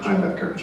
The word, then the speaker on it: Himebecker: My name is Himebecker. That's the correct pronunciation.